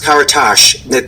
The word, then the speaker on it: Karatas: can get right because it's pronounced karash but there's no h at the end well I'm going to